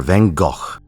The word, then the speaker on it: Van Gogh: Fino here with a guide for Van Gogh. My condolences to the Dutch, but that's the only time I'm going to be pronouncing it like that.